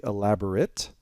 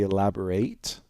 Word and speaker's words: elaborate: Because as an adjective, we say elaborate. As a verb, we say elaborate, right? And you see the different pronunciation here.